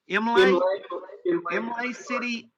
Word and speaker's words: Imlay City: So you buy a note on a property in, how do you pronounce that? Imlay City, Michigan.